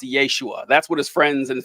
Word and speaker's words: Yeshua: you who don't know Jesus's name in Aramaic would have been pronounced Yeshua that's what his friends